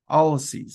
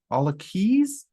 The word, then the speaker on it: Alloces: Alloces is how I've always heard it pronounced. I've also heard it pronounced Alloces, but Alloces is how most of the people I've worked with have pronounced it.